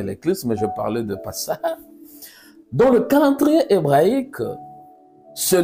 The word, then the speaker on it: Pessah: parlais pas de l'éclipse, mais je parlais de Pessah.